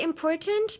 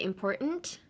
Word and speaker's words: important: You can say important, but you can also silence the T and say important.